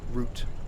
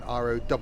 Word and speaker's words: route: same yep but it's it's root pronounced like a tree root but spell r-o-u-t-e it's not pronounced route as in rowt we invented the language